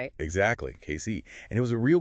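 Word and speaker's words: Cayce: That's pronounced Casey, right? Exactly. Casey.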